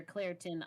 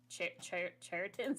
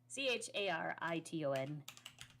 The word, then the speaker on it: Chariton: Well, Claritin or Clarion? It's with Ton. CH. Chariton. Sorry, folks in Iowa, for pronouncing these. CHARITON. There we go.